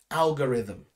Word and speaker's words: algorithm: right we say alga ri at the end algorithm all right we can see robots in many